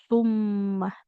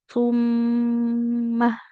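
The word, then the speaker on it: ثُمَّ: Tumma contohnya di kata tumma. Nah, kita kan mengucapkan hurufnya domah maka bibirnya maju ya tu. Tapi ketika kita masuk ke huruf mim bertasdidnya, nah itu bibirnya ditarik dulu. Tidak tummah, tapi summah.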